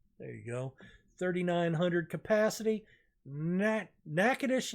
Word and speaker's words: Natchitoches: Natchitoches, Louisiana, and I said Nacogdoches. That's the one that's spelled almost the same way in Texas. This is Natchitoches, Louisiana.